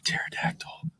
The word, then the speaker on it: pterodactyl: Why can't you hear a pterodactyl going to the bathroom? Why can't you hear a pterodactyl going to the bathroom? Is the joke, or one of three jokes here? Okay. Because the P is silent.